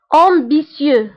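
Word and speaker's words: ambitieux: طموح امبيسيو، فهنا التي ننطقها بس امبيسيو.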